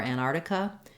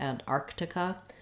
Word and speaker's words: Antarctica: So the main error that I hear in these words is that people will sometimes leave out this first k sound. They'll say it more like Arctic or Antarctica instead of Arctic and Antarctica.